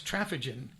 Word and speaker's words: Traphagen: we're talking about ethyl travaging t-r-a-p h-a-g-e-n and I've learned how to say her name here because it's trafficking um so thank you